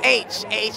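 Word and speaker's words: Aech: No, and I've it's a always weird thing, but mispronounced it's H.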